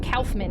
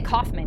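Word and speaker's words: Kaufmann: I also feel weird saying Calfman, but that's how he pronounc He was like, I'm I'm Calfman. He didn't say Caufman.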